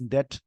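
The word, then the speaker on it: debt: इट्स डेट restructuring process. इसको डेप्ट नहीं डेट बोलते हैं, बी साइलेंट होता है।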